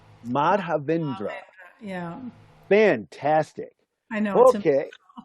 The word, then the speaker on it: Madhavendra: Well, if you break it down into 4 syllables, it's Madhavendra. Madhavendra.